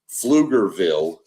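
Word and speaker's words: Pflugerville: It is PF. It's It's got a P in front of field. Oh my god. Yep. Flugville. People that don't understand, Flugerville is spelled PF. I got Yeah. P L U G E R V I L L E Flugerville. So the P is not there, but it's there when you write it.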